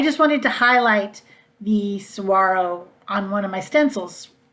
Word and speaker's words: saguaro: third one it's called saguaro scene i know there's a g in there but it's that really is how you pronounce it saguaro saguaro's are the big